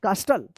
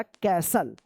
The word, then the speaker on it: castle: कास्टल या कैस्टल? नहीं, इसका सही उच्चारण होगा कैसल। यहां पे जो है ना टी साइलेंट रहेगा, ठीक है।